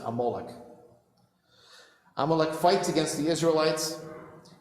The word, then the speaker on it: Amalek: another Nation appears it's a nation called amalek and you should pronounce it amoloch amalek fights against the